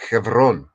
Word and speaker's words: Hebron: about exactly well what what is heon Right Hebron is the traditional burial ground of all the he the Jewish greats right and except here's the thing it's not pronounced ton it's pronounced Kon right Kon and spelled c h v r